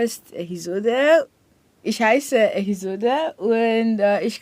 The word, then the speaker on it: Ehizode: My name is Zode, Ehizode. So most times when I say my name, Zode, like, where are you from? So it's Ehizode, and I'm from Edo State in south of Nigeria.